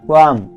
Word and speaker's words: qualm: দ্রুত বা তাড়াতাড়ি, QUALM কোয়াম অর্থ নিজ সম্পর্কে সন্দেহ বা বিবেকের দংশন এখানে এল এর উচ্চারণ হবে না, RAFT রাফট অর্থ নৌকা